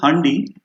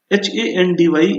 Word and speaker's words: Handy: So you probably will pronounce it as handi, which is an exception. Handy is to be pronounced as handy only. That is to say, the English pronunciation and German pronunciation are same, right?